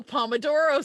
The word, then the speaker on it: pomodoro: With a little pomodoro sauce. So the trick is pomodoro, or I'll have Kat say it because she'll say it better. Pomodoro. See, I can't do it. You gotta roll your R's.